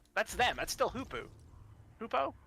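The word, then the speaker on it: Hopoo: Hoopo? Hapu. How do you pronounce it? Hoopu.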